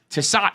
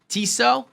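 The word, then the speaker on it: Tissot: googling something t-i-s-s-o-t pronunciation i think it's going to be so tassat would be crazy tiso yeah it's more correct than that but they've got that movado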